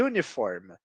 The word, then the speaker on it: uniform: considerado uma consoante então quando a gente fala e uniforme apesar de escrevermos com uma vogal o primeiro som é um som de consoante por isso que usamos